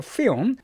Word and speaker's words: film: 또 필름이라고 발음하지 마시고 film.